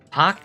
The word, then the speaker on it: Park: Pock being spelled like park.